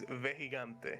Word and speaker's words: Vejigante: How you pronounce it again? It's Vejigante.